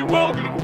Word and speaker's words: Wargloob: Ça aurait plutôt tendance à se prononcer Wargloob et Warmall.